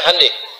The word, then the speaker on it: Hyundai: bikin Honda mereka bikin H Hyundai itu dibacanya hand ya jadi Selalu Begitu itu